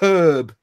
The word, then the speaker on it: herb: on us no no herb because it's an H at the start there you go right